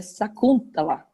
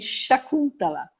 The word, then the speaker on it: Sacuntala: A pronúncia é Sakuntala. E tem também Shakuntala.